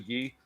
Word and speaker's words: Guy: You know, everybody mispronounces it as Guy, but it's actually Guy.